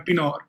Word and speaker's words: Pienaar: my full name is pinard which is um African almost like Dutch right um and um it's